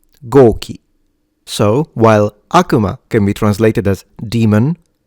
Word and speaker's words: Akuma: I hear a lot of people pronouncing it Akuma. The real pronunciation in Japan is Akuma. Akuma.